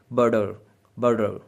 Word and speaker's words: butter: बोलने वाले इसको बटर की बजाय वो कहेंगे बर्डर बर्डर, लाइक वो टी को डी की तरह से प्रोनाउंस करेंगे।